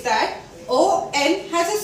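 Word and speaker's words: haut: Now H-A-U-T becomes O. Because H is silent in the French language, AU has a sound of O, T we are not going to pronounce. So this becomes O.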